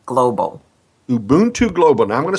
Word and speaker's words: Ubuntu: to pronounce it for Me ubon 2 Global Ubuntu Global now I'm going to spell it because you'll never get it U Buu